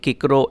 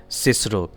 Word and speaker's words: Cicero: Making boys say kikro at school when for the rest of their lives they'll say it Cicero.